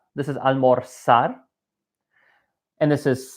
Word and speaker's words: almorzar: In every country except one, they're pronounced as the letter S. So this is not almorzar. This is almorzar.